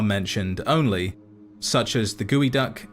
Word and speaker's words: geoduck: only, such as the gooey duck, said to be the world's largest borrowing clam, which can live to 150 years. Also, is that really how it's pronounced? I thought it was Geoduck.